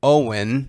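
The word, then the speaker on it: OWYN: company called Oh Wyn Owen is how they pronounce it and it stands for only what you need and I'm not vegan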